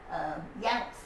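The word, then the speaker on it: Younce: her maiden name was yanks y-o-u y-o-u-n-c-e and i remember because it rhymes with bounce boys janet you pronounce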